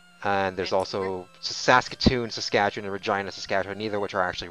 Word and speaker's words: Saskatchewan: also Saskatoon, Saskatchewan, and Regina, Saskatchewan, neither of which are actually really that big.